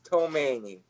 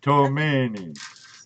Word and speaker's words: Tomaini: It's Tomaini. So. Tomaini. Sounds Italian.